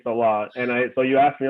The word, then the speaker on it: Saleh: So that's the proper way of saying Saleh.